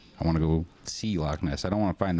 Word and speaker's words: Loch Ness: And actually, if you pronounce it in Scottish correctly, it's Loch. Loch Ness.